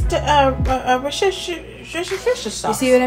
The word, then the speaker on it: Worcestershire: We call it W sauce because we can't pronounce the actual title easily. Yes, we can. It's the Worcestershire sauce. You see what I mean? Worcestershire sauce.